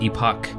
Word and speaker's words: EPΘCH: a game called epic I believe it's pronounced epic some people call it Epoch but uh I see the little mini eye in the middle there so I'm guessing it's called epic it's kind of a